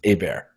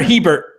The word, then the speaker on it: Hebert: The H is silent, so it's just Hebert. Or Hebert, if you want to be American about it.